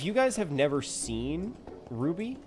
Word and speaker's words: RWBY: I if you guys have never seen Ruby, when I say Ruby, I don't mean like the the gemstone. It's It's spelled weird. It makes sense if you have seen the show, but it's by Rooster Teeth, RWBY.